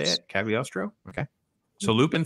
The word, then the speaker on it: Cagliostro: Cagliostro.